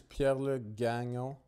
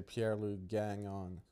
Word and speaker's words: Pierre-Luc Gagnon: In French, it's Pierre-Luc Gagnon. Okay. If you're going to pronounce it in French, but people out here just say Pierre-Luc Gagnon.